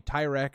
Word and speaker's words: Tyrek: And yes, if you're rewatching this, don't put in the comments his name's actually Tyrek or however you say his name. It's a running meme on this channel. His name is Tyreek.